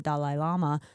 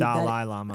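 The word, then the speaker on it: Dalai Lama: Lama do not believe Dal Lama I like that I say that I said dolly do Lama for for some reason I think that's how we say it in America I Hear I want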